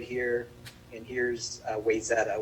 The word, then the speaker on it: Wayzata: here and here's uh wayzata wayzata is a why zetta i'll give you the local the local pronunciation it's why is that and basically like the